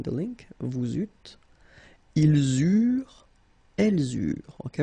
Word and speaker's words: eurent: Okay, remember that when we've got this ENT ending at the end of the plural form, so third person of the plural, you don't pronounce it, so you get eurent.